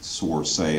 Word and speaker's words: Sorsaia: elected because people might not be able to pronounce my name source a up and you know my faint my mom's